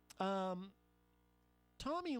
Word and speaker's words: Tomi: Tomi Lahren, is it Tommy or Tomi? Tomi. It's a female. I've heard it pronounced both ways.